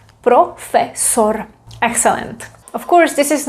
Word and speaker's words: profesor: Profesor, because o, e, o. Profesor.